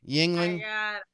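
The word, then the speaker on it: Yuengling: Youngling or Yangling or what? How do you? Yingling.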